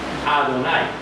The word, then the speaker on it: Adonai: Pero, cuando lo pronuncias, no por la parte de las consonantes, sino por la parte de las vocales, se pronuncia entonces Adonai.